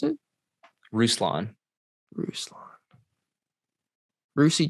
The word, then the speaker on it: Ruslan: your what's your first name how do you pronounce it ruslan ruslan rucy g see it's like but that's